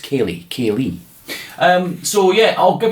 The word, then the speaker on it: Ceilidh: dna h at the end there but it's pronounced kelly kaylee um so yeah i'll give you a couple